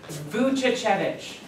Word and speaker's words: Vuchichevich: If you take it a syllable at a time, it's kind of okay.